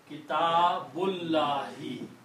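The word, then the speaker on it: كتاب الله: When you read them together, you do not pronounce this alif. So this becomes Kitabullahi.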